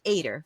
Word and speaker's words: Eder: So the reason why I thought I was going to pronounce it wrong is because it is spelled with an E, not an A, but it's pronounced Eder Financial.